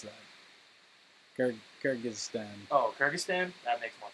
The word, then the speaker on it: Kyrgyzstan: How do you pronounce that? Kyrgyzstan. Oh, Kyrgyzstan? That makes more sense. Nationality. Yeah, Kyrgyzstan.